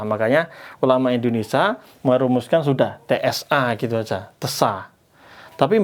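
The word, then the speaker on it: ث: Bacanya itu makhrajnya pakai lidah. Lidah kita dilihat ini lidah kita ya. Terus ini gigi atas ditempelkan di ujung gigi atas. Hampir keluar lidahnya. Terus keluarkan udah tsa.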